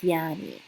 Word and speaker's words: Jnani: Belief becomes faith when there is a goal and when what one believes becomes the actual goal, this is what makes a “Jnani” (pronounced “gyani”).